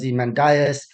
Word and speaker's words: Ozymandias: going to look at Aussie mandis 1818 by Percy Shelley some people pronounce this as the mandias there's various versions I'm going to say Aussie mandis so summary and brief